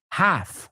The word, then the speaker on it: half: Half, otra L que no pronunciamos.